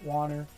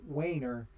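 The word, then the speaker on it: Waner: I know some people pronounce it Warner. Ever since I was just a wee little guy, I had the name Wainer drilled into my skull.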